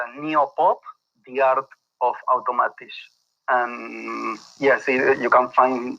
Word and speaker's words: Automatisch: Called Automatisch. Is that right? Yes, Automatisch. Yes. Automatisch?